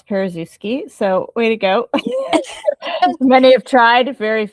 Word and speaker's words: Paruszewski: Yeah, first of all, I'm very impressed you could pronounce Paruszewski.